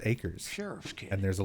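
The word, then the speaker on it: Ackers: I've only seen it written down, so I always thought it was Akers. Maybe this'll interest you. But apparently it's pronounced acres.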